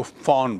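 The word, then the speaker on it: von: लिखा, और फॉन stable, देखिए वी ओ एन, वैसे तो उच्चारण उसका वॉन, लेकिन जर्मन में, ये जर्मन वर्ड है, जर्मन में वी ओ एन को फॉन बोलते हैं, सो यहाँ वो लिखता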